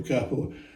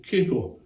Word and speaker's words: capo: Now you've probably noticed that I'm pronouncing the word capo rather than capo. Now, I fully understand why people pronounce the word capo. I mean, there's only one P in it, and in English you need two P's to make it capo, so I guess it's capo.